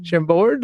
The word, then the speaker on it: Chambord: chocolate dark chocolate with Chambord Chambord is how you pronounce that so it's a it's